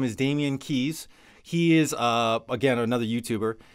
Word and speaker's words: Keyes: His name is Damian Keys. It's last name is spelled Keyes.